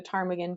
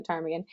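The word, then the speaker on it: ptarmigan: was named after the Tagan because no one could decide on or remember how to spell where the the silent P went in the Tagan um so these birds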